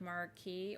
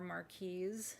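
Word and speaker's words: marquise: These are I'm in my like obsession with marquee or marquees, depending on you how you pronounce it.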